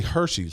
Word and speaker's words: Hershey: Apparently, Hershey's has announced a campaign. And this it's actually. You mispronounce that. It's Hershey.